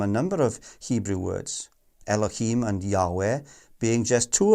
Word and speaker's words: Elohim: Elohim should be pronounced the Elohim, since it is a plural form.